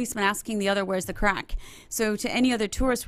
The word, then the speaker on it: craic: But CRAIC, spelt but pronounced crack, means fun in Ireland.